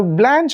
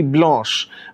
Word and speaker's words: Blanche: the name blanche now blanche of course is the american pronunciation but if you look at the french pronunciation it is actually blush blush in french is